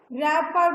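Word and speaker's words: wrapper: अन, यस, अन रैपर बेटा W इसमें silent है। फिर वेपर विथ रैपर, ये W फिर यहाँ साइलेंट है, रैपर।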